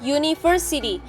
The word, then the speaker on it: university: Opsi yang B karena university. Ketika kita mengucapkan university di depannya ada huruf Y. University. Di mana Y adalah huruf konsonan. Jadi secara pelafalan diawali dengan huruf konsonan, maka pilihannya adalah e.